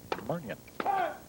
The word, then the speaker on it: Murnion: And yes, we know how it's spelled. It's pronounced Murnion.